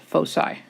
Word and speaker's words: foci: and they are called foci. That is pronounced with an S sound, and it is the plural of focus. Each one individually is a focus. Together they are called foci.